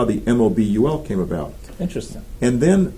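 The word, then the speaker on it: Möbel: They would maybe pronounce it Mobul, if they want to use the correct German pronunciation, which, by the way,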